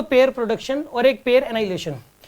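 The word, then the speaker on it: annihilation: और pair एनाइलेशन, इसको आप ऐसे बोल सकते हो एनिहाइलेशन, ताकि ना स्पेलिंग याद रहे इसकी। वैसे H जो है वो साइलेंट रहता है इसके अंदर, H इसमें साइलेंट रहता है, एनाइलेशन बोलते हैं इसको।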